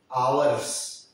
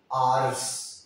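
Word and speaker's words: hours: ये बहुत लोग इसको प्रोनाउंस करते हुए हैं आवर्स, मतलब 1 घंटा, 1 आवर, 2 घंटे, 2 आवर्स, आवर्स। लेकिन उससे अच्छा प्रोनाउंसिएशन इसका है आर्स।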